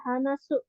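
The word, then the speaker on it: 話す: Oke, yang pertama ada hanasu. Hanasu. Hanasu itu berbicara ya. Hanasu bentuk simasnya itu hanasimas. Hanasimas. Di sini cara bacanya ada 3. Ada hanasu berbicara dari hanasi. Kalau hanasi itu artinya cerita. Terus wa ya, ada cara baca wa. Untuk contoh kosakatanya, tadi ya hanasu udah itu berbicara, hanasi itu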